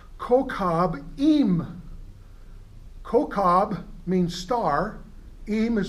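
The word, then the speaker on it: כוכבים: In Hebrew, it's pronounced kokab im.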